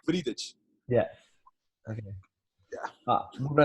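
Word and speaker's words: Wriedt: In Portuguese, we say Vridic.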